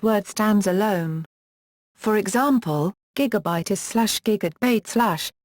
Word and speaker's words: gigabyte: For example, gigabyte is/ gigadbait slash with stress on the first syllable.